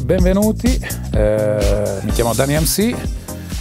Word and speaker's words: DAN-E-MC: MC ci stava perché la E di Dani MC si pronuncia I in inglese, quindi Dani MC, e da lì è